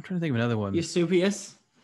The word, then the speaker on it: Eusebius: Eusebius. Eusebius, you mean?